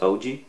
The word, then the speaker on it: AUG: It's not Audi, it's OG.